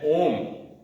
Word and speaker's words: ओम: उच्चारण सबसे करवाया तो ओम के उच्चारण में तीन वर्ड है अ उ और म ओम का उच्चारण आप कैसे